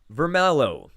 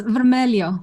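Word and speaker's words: vermelho: portuguese this primary color vermelo in portuguese maria red red is correct did i come anywhere close to pronouncing that correctly um it's vermelio yeah i wouldn't get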